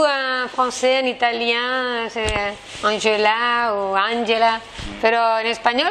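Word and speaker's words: Ángela: Parce que c'est la J, elle est très forte. Oui. C'est J, es Angela.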